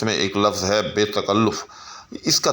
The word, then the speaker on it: تکلف: کہ درست نہیں ہوتا۔ درست جو ہے لفظ وہ تکلف ہے، یعنی لام کے اوپر پیش ہے۔ اسی طرح سے درست